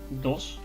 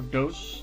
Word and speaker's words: DOS: Basically because DOSBox is an emulator for DOS or DOS, depending on how you want to pronounce it.